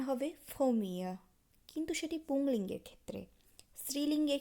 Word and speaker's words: premier: প্রথম উচ্চারণ হবে ফোমিয়া, কিন্তু সেটি পুংলিঙ্গের ক্ষেত্রে।